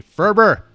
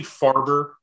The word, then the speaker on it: Faerber: right you did awesome how how botched does your last name get it's i mean it's usually farber or or ferber okay and i'm used to it but now i just try to get out ahead of it sometimes it's uh it's i don't usually interrupt people to correct them um yeah because it is pronounced differently than the way it's spelled that's interesting my last